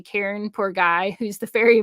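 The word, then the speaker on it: Charon: the river sticks and most people mispronounce his name they say Char but it's actually Karen poor guy who's the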